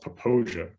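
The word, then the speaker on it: Popo Agie: river um okay but it's pronounced poposia ironically yeah or nothing like what you'd guess but it's you know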